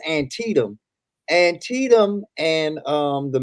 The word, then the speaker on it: Antietam: going to mispronounce it i call it anti-tan but i think it's antietam and tetum and um